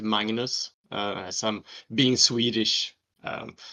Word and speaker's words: Magnus: exactly so yes I'm I'm Magnus as the Americans say over here Magnus like a sheep M but uh I'm mangnus that's how you pronounce it I I taught Rick how to pronounce my name it's Mangus as I'm being Swedish um some of you